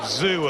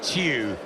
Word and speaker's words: Tszyu: Beautiful one, straight down the pipe from Tszyu, called Czu, of course, in Australia. But Kostya once told me that because of his Russian ancestry, he preferred Tszyu as a pronunciation.